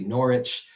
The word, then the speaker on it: Norwich: The W is silent, so that would be Norwich.